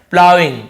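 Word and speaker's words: ploughing: इसे हम क्या पढ़ते इसे हम बोलते हैं प्लाइंग इसे हम क्या बोते प्लाइंग जी एसन शॉर्ट रहता है साइलें लेटर होता है प्लाइंग प्लाइंग का मतलब क्या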